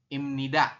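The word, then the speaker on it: 입니다: aturan baca di sini disampaikan bahwasanya B di akhir bertemu dengan ni maka BB berubah bunyi menjadi m jadi kita Bacanya adalah Im ni imnida ya seperti itu nah sampai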